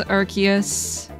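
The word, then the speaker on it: Arceus: monkey to be fair the name is a combination of Arc and DS ah okay Nintendo pronounces it as archus during Legends arus announcement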